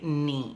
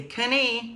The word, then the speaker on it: knee: the beginning um but we say knee we don't say Kenny no kitty that's incorrect you say knee all right so those